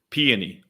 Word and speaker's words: Peony: Peony. Oh, like the flower? Like peonies? Yes.